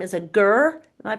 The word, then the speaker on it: ger: Um yurt is the Turkish name and Russian name and Mongolian name is ger and they translate into the same thing which means home. So, yes, it's a ger camp or a yurt camp and um we choose this particular one for its location.